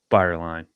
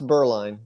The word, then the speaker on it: Bireline: the man the myth the legend mr fireline but did did i pronounce that right uh it's burling but that's burling lightyear you burling